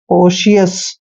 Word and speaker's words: cautious: और देखिए यहाँ पे टी का उच्चारण श करेंगे, TIO इकट्ठा आता है तो श करना है, श, और IOUS को उच्चारण ES करेंगे, कोशियस, कोशियस, सावधानी पूर्वक।